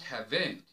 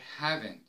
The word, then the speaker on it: haven't: tidy preferences preferences haven't it's not hav't don't say I hav't we say I haven't I haven't doesn't it's not doesn't